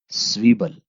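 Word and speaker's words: Zwiebel: आगे है स्वीबल। स्वीबल आपको पता ही है, जैसे कि आप पीछे पढ़ चुके हैं अल्फाबेट्स में, Z जो है वो सीन की आवाज देता है जर्मन जुबान में, और S Z की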